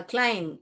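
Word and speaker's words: climb: क्लाइम and time okay यहां पे क्लाइम ब नहीं पड़ने का क्लाइम क्लाइम ये बी जो है साइलेंट है क्लाइम टाइम टाइम हम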